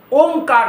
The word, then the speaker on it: ओम: ओम अ उ म उसका उच्चारण है।